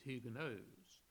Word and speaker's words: Huguenots: protestants they were known what we call huguenots their french pronunciation is huge knows and they were so